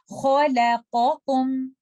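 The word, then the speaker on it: خَلَقَكُم: Kha, la, qa. And then join it with rest of the word and try to recite it like this. Khalaqakum. Khalaqakum. And do not make letter lam heavy because of kha and qaf.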